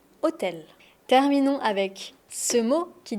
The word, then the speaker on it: hôtel: Mais on n'entend pas le H de hôtel. Ça c'est très important. Si tu prononces le H, c'est pas très grave. On va te comprendre mais on va tout de suite t'identifier comme un touriste. Et je sais que tu as envie d'avoir un bon accent. Donc hôtel.